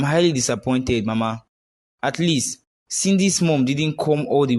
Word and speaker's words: Cindy: Mama, I wouldn't allow you call Cindy a witch in my presence. And it's not Sydney, it's Cindy.